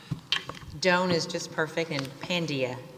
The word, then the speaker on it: Pandya: is just perfect and pandia is how we pronounce it Iran for down with